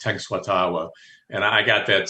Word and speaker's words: Tenskwatawa: Oh yeah, Tenskwatawa. Occasionally, I've heard it pronounced Tenskwatawa, but it's Tenskwatawa, and I got that spelling.